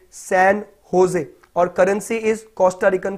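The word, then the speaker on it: San José: देखिए यहां पर जो स्पेलिंग है जे ओ एस ई है, इसको सैन जोस नहीं पढ़ेंगे, इसको जोस नहीं बोलेंगे, इसको सैन होजे बोलेंगे. सैन होजे.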